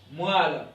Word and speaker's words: moelle: M ne se prononce pas. Ici, on dit la moelle.